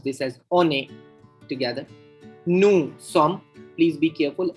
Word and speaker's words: nous: Nous sommes. Please be careful. S is silent in the nous.